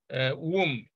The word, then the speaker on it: womb: are two consonants, but whenever M comes before B, in most cases, B is silent. So this is, womb.